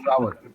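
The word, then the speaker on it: flour: Nah, kalau yang ini yang tepung sama bunga, ini bacanya sama. Flower. Flower. Flower. Flower. Flower. Flower. Flower. Yes. Bacanya totally sama.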